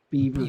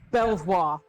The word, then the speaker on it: Belvoir: Beaver. Beaver. It's Beaver, spelt Belvoir. Which, if you live in the U.S., like Fort Belvoir, when they spell that over here for the castle, it's Beaver Castle.